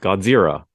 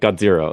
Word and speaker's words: Godzira: people say pink Godzilla I hear people say pink Godzilla yeah what is the proper way coming from the source pink got zero okay like like Gaijin